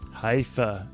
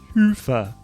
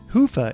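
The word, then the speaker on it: Hyvä: talk Commerce is sponsored by hia or as the Europeans say hoofa or the right way to say it hoofa is rapidly becoming the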